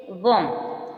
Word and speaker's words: bomb: जैसे बॉम, क्या बॉम में क्या जी, एम के बाद आया, एम के बाद बी आएगा, साइलेंट है। बॉम, BOMB, बॉम साइलेंट है।